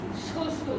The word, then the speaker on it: শ্বশুর: তো দেখলাম কি লিখলাম শ্বশুর শ্বশুর তার মানে আমরা একটা নিয়ম জানি বা এখান থেকে একটা নিয়ম খুব কমন সেটা হলো কি শুরুতে ব ফলা আসলে উচ্চারণ হবে না হয় না শুরুতে ব